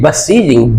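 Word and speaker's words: beseeching: बी ई होता है बी सीचिंग क्यों नहीं कहा नहीं बसीजिंग ब का उच्चारण होगा बसीजिंग बसीजिंग का मतलब होता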